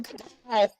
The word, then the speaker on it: cacao: It's not cocoa. It is spelled. It is pronounced differently, right?